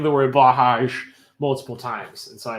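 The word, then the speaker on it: Blåhaj: um blah like black blah like black hajj like the islamic pilgrimage hajj well now i gotta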